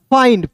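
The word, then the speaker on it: find: दोस्तों फ होता है अंतिम में क्या है आई एन डी है तो इसका उच्चारण आइन के रूप में करेंगे क्या हो गया एफ आई एन डी फाइंड फाइंड means होता है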